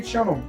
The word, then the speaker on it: Cianò: gustiamo il caffè perché Ciano cianò non è altro che il mio cognome Io mi chiamo Ciano Ciano ho messo l'accento così rende più chic rende più qualcosa di